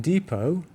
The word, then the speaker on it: depot: variously, an adverb, in several different ways, and depot, and that T is silent, a building where supplies or vehicles are kept.